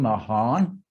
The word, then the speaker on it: Mahan: power captain alfred sayer because that was the way we pronounce his name mahan captain mahan began by